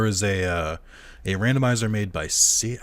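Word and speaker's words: Syd: And then there was a randomizer made by Sid, I think it's pronounced Sid, S-Y-D, Montague, or Montague, I'm not sure.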